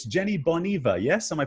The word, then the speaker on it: Jenny Boneva: So, Jenny, it's Jenny Boneva, yes? Am I pronouncing this correctly? Yes, perfectly. Jenny Boneva.